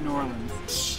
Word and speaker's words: New Orleans: Max, it's pronounced New Orleans.